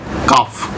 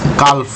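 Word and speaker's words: calf: তাকে ইংরেজিতে বলা হয় কাফ সি এ এল এফ এল এর উচ্চারণ কিন্তু হবে না কাফ আমরা উচ্চারণ করবো কালফ নয় ঠিক আছে কাফ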